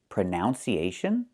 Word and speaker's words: pronunciation: The word is pronounced pronunciation. We see the letter U there between the ends, right? That's a short uh sound like cup and up. Prenun. Prenun. So the two first vowels are the same sound.